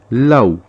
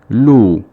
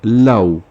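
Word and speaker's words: لَوْ: You would think to pronounce this as lu. But since there is a fatha on the lam before the waw, and there is a sukoon on the waw, it is pronounced law.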